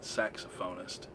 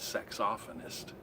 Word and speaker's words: saxophonist: a locational pronunciation thing I've always pronounced it saxophonist he said sex off Anniston that water just I don't